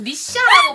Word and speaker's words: 미샤: 어디 거예요 미샤 미샤 근데 꼭 미샤라 발음 하셔야 돼 미샤 이거 투쿠 전 색상